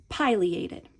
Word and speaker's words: pileated: So let's take our first syllable and let's go with the pronunciation pileated.